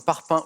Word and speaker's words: parpaing: À l'oral, quelle consonne placée à la fin de certains mots comme parpaing ou faubourg n'est pas prononcée? Le G.